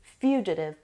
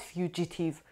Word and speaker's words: fugitive: And the seventh word is fugitive. Fugitive. The stress is on the first syllable. And دقت بکنید. This is not fugitive. Fugitive. Adive. Adive. Fugitive means a person who's all the time running away from something.